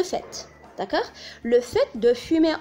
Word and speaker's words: fait: S'il vous plaît, il s'écrit fait avec T, mais il se prononce le fait.